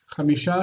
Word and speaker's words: חמישה: So you don't need to pronounce the h. Chamisha, shisha.